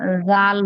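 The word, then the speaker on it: ر: র, র, র, র, রর উচ্চারণ হবে, মানে ওই যে বলছিলাম আপনাদেরকে, জিহ্বার আগার পিঠ, জিহ্বার আগা দিয়ে উচ্চারণ করবেন না, জিহ্বার আগার পিঠ হবে, জিহ্বাটা একটু উল্টিয়ে উচ্চারণটা হবে, হ্যাঁ, জিহ্বার আগার পিঠ উপরে তালুর সঙ্গে লাগবে।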